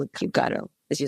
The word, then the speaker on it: kubectl: How do kubectl, kubectl, kubecontrol, how do you say it? I'm the one who's going kubectl, but I think I'm the only one because no one using it in my company like this.